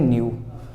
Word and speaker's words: knew: आपको पता होगा न्यू लिखा होता है ना, KNEW लिखा होता है, इसकी स्पेलिंग न्यू, लेकिन हम इसको क्या पढ़ते हैं, न्यू।